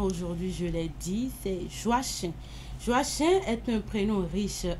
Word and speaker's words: Joachim: Joachim, voilà, merci de le dire. Joachim qui s'écrit J-O-A-C-H-I-M.